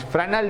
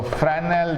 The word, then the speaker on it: Fresnel: One is Fresnel diffraction and another is Fraunhofer diffraction. So Fresnel diffraction and Fraunhofer diffraction. You see the name, very long name Fraunhofer and short name Fresnel. S is silent here.